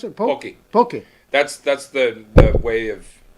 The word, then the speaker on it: poke: Or how do you pronounce it? Poke.